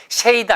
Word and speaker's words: shade: 발음이 shade 아니고 shade. shade of. 그래서 D 발음이 부드럽게 또 리을로 바뀌니까 shade of.